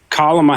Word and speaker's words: Kamala: Well, it's pronounced Kamala. Kamala? Say comma?